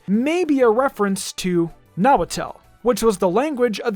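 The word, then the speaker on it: Nahuatl: be a reference to nawatel which was the language of the ancient aztecs and other mexican tribes oh also comment section don't get mad at me it's actually pronounced nawaddle sorry about that mori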